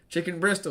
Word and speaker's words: Chicken Bristle: Chicken Bristol is correct. I'm getting people tell me chicken Bristol is correct. Don't pronounce the T. It's silent.